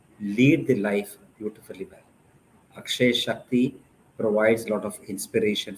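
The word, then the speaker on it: Akshaya Shakti: Akshay Shakti, yes, you spelt it rightly or you pronounced it rightly.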